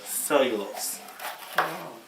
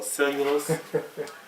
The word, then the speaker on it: cellulose: cells cells you lose that's mhm it's really pronuncia uh cellulose so cellulose uh but it's spelled out cell as a